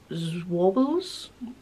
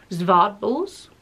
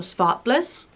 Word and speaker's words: Zwartbles: 10% Zwobbles. I don't think it's pronounced like that. I'm pretty sure it's pronounced Zwartbles or Svartbliss.